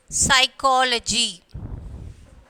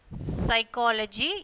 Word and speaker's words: psychology: Psychology. Psychology, here P is silent, and then solemn.